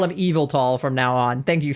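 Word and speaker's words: Yveltal: your buddy old palia evil tall evil tall evil tall so the Y is pronounced like an e not like a y that makes sense evil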